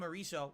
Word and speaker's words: Marisa: Will be you pronounce it like Marisa.